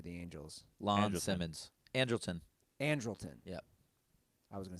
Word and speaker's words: Andrelton: Ruther pronounces baseball names. What's Simmons' first name for the Angels? Lon Andrelton. Simmons. Andrelton.